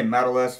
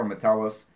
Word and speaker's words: Metellus: a little bit he'll he'll say medalists for Josh Metellus I'm pretty sure Josh Josh has started it before imma tell us who else I think